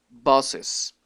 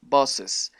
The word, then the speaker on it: boss's: sino que se pronuncia bosses. Hay que pronunciar una pequeña E, como si el apóstrofe se pronunciara como una E, bosses, para poder decir esta palabra correctamente y que se entienda que es un posesivo.